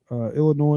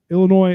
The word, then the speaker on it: Illinois: And by the way, Illinois, it has an S on it, but the S is silent, guys.